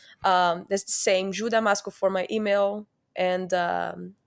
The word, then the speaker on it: Damasco: it's ju just my nickname Damasco. That's D A M A S O. Maybe we can leave somewhere. Yeah. Um that's the same Damasco for my email and um so it's contact